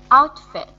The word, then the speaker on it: outfit: Outfit. Mm-hmm. So here, in this with this T here, it's very soft.